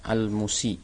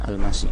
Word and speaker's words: المسيء: Ini bacanya al-musi ya, bukan al-masi, tapi al-musi.